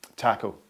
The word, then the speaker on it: Taco: The only person I ever get right nowadays is Munira and Taco. I can remember Taco because it sounds like taco.